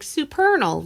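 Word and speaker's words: Supernal: our our third record we called it rhymes with eternal because that was the way we could get people oh like it rhymes of because people like super what and be like superal rhymes of the Eternal um yeah so that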